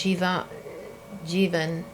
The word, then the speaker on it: Jeevan: that, for instance, Jeevan, rhymes with Stephen, right?